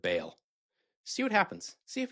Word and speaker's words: Baal: Try saying baal instead of bale.